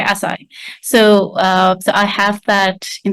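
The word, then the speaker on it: açaí: you have heard of there are different ways on how people pronounce it, but I don't know if you've heard of Akai or Asai. I said, mm-mm. Yeah, okay, Asai.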